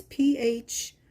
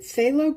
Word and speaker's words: Phthalo: The way it's spelt is so odd. It's P-H-T-H-A-L-O. Is it Phthalo Green or Phthalo Green? Not sure.